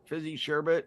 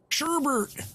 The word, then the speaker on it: sherbet: and pixie stick candy thank you for saying sherbet right appreciate it yeah it's spelled sorbet so Sherbert my mom still says Sherbert to this day Sherbert I got some sherbert show me the r show me the second arm I used to for